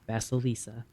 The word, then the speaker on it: Vasilisa: God bless Igor Ilampovich and Vasilisa is how you say her name. Vasilisa.